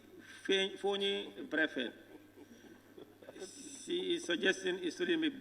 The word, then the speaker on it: Brefet: Berefet is not properly spelled. It's spelled Berefet. Fonyi Berefet is Brefet. B-R-E-F-E-T, not.